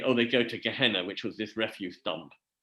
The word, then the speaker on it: Gehenna: There is a, Gehenna is actually, Gehenna as it's pronounced, is a valley outside Jerusalem, which was where they used to tip all the refuse.